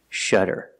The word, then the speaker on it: shudder: is to shutter pronunciation you see the letter U before a double consonant it makes a short sound that's a relaxed closed sound uh uh shutter and the Double D makes a fast D sound shutter shutter